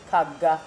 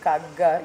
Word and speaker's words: Kagga: Now, it's Kagga, right? Kagga. That's how they pronounce it. Kagga, yeah.